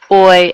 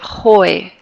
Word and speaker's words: hoy: Hoy es, and notice how I'm not pronouncing that H. It's not hoy, it's hoy. We just dropped that sound.